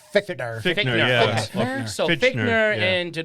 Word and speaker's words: Fichtner: I think D'Onofrio and Fincher. Am I saying it right? How do you say I always it? thought it was like Fichtner.